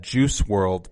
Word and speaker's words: Juice WRLD: and then we've got juice world but it's spelt jce world normally in the shownotes juice juice wrld so world there's like it's just